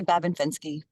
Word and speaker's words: Babin-Fenske: So the Babin is fine. It's Babin or Babin, and then Fenske is actually Fenske. Fenske. Anyway, so I say Babin-Fenske.